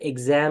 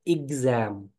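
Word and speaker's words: exam: हाँ, इसे बहुत से लोग एग्जाम बोल देते हैं, ये एग्जाम नहीं है, ये है एग्जाम। EX से शुरू होने वाले बहुत सारे वर्ड की जो प्रोनाउंसिएशन है वो एग की जगह इग की आती है।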